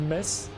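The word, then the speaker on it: Metz: and now we have mes so you pronounce it like m s of mess and you don't pronounce the TZ weird French pronunciation as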